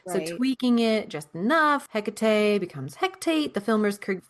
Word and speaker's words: Hecate: in productions of McBth has traditionally been pronounced as he a hecate a holdover from Elizabeth and theater to a mainstream audience in the '9s. That mispronunciation already sounded witchy, stagy, and familiar.